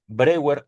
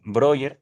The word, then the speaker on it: Breuer: en Francia, y con Joseph Breuer o Joseph Breuer, estoy, digamos, tratando de decir el mismo nombre en diferentes pronunciaciones, un colega de Sigmund